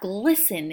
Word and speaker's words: glisten: - was glyphs in with st in the middle that t being silent the stars glisten in the night sky